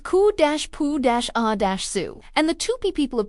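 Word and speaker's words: cupuaçu: It is called koak pronounced ku-poo- a- zoo.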